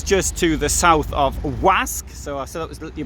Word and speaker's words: Łask: l a s k the l looks like an l with a line through it so it's pronounced like an english w whoa uh wasc and uh so which